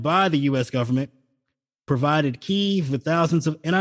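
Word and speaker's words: Kyiv: the US government provided key with thousands of and I know a number of people like to pronounce it uh Kiev but um from the Ukrainian pronunciation I've heard the correct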